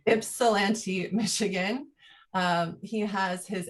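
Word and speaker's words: Ypsilanti: multimedia artist based in tell me how to pronounce this ipsilanti ipsilanti michigan um he has his mfa from uc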